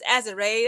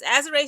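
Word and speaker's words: Azurá: Now, for the LA Sparks, I want to say Azora so bad, but it's Azer. That's how everybody pronounces her name.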